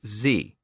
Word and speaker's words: Z: was from New England he asserted that the proper pronunciation of the Letter's name was Z so that eventually became the standard American pronunciation the same kind of